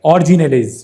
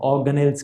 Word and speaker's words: organelles: भाई, एक minute, organelles, organelle, और organelles, और ऑर्जिनेलेज भाई, ऑर्जिनेलेज, ऑर्जिनेलेज, ऑर्जी में नल्ले घूमने वाले, ऑर्गिनले। मजाक करो भाई, मेरे को पता है इसकी प्रोनाउंसिएशन, ऑर्गेनेल्स कहते हैं, ऑर्गेनेल्स।